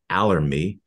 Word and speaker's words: Allermi: founder and CEO of allery a RH with rhymes with ocean a tell Health company